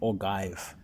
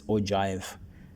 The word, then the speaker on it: ogive: Some they call it ogive and some they saying it's ojive. As long as you know how to write it, doesn't matter how you pronounce it. So it's ogive. Some other people I had them saying it's oie.